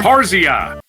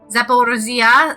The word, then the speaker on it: Zaporizhzhia: Zaporizhzhia.